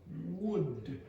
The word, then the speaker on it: would: Look into my lips. Woo. It's nice comedy in the morning. D. Wood. Okay, so you have to be a bit careful with that sound.